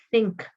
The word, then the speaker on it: think: Think, think. ¿Ya? Acuérdense que la TH se pronuncia con la lengua entre los dientes.